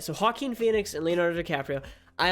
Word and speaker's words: Joaquin: it's rocky in Phoenix Joaquin how do you pronounce his name it's Joaquin right jakku Koo penis Joaquin Phoenix it is Joaquin okay I was right so Hawkin Phoenix and Leonardo DiCaprio I always mess up